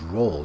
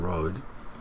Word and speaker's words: role: So fast food certainly indeed plays a pivotal role in their daily Again, pivotal role, really good, but then the pronunciation is roll, not road.